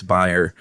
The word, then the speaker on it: Bayer: No, I'm not German, but that's how you pronounce it over there. It's Bayer. Uh we pronounce it Bayer over here.